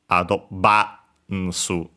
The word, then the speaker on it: アドバンス: you see it instead V isn't present technically in Japanese, so it becomes the closest vowel, the closest consonant, which is B. Yeah, so that's why we get from advance adobansu.